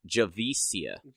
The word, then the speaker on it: Javicia: It's a soft C. Hang on, I have her Wikipedia page open somewhere. Enunciation. It's Javicia.